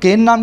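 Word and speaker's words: Cairn: किस पर एक तो के नाम की कंपनी पर और दूसरी भी कई कंपनीज पर है ना इसको कैन बोलते हैं इसमें और साइलेंट होता है बाहर की कंपनियों के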